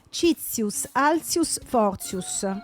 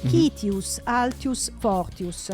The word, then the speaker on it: Citius, Altius, Fortius: E qui c'è da divertirsi perché lo leggo come si legge a scuola. Vai. Citius, Altius, Fortius. Sì. Lo leggo invece con la pronuncia che si dice sia fosse quella dei veri latini. Citius, Altius, Fortius.